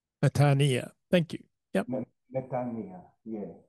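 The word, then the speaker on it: metanoia: put those two letters together y together they're pronounced e so it's not meano it's actually methania metania thank you Yia yeah right thank you very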